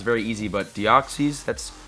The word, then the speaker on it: Deoxys: formzee oxys and caste form I know I'm pronouncing caste form right because it's very easy about deoxys that's correct deoxy Deoxys I haven't learned that